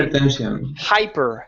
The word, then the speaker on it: hypertension: And make sure that you're pronouncing your H's. So instead of saying hypertension, it's going to be Hypertension. hypertension. Hypertension. Okay. Give me a good R there as well. Instead of saying hyper. Hypertension. Hypertension.